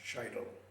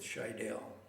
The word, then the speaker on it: Scheidel: One thing One thing, my name really is pronounced shidel. That's a German pronunciation.